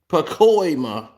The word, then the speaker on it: Pacoima: And the Bloods out there ain't gonna let nobody from Pacoma or Pacoma, however you pronounce it, Pacoima.